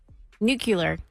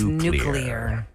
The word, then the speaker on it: nuclear: three I'm drinking my coffee I'm busy go nucular oh no no no oh nuclear is the mispronounced way to say that word it's nuclear nuclear who is it George W used to